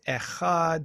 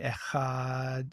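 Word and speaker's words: אחד: end of the word echad but it's pronounced almost like like tav is sometimes written which is a the th in the word the so it's a th sound but but that's vocalized so it's a sound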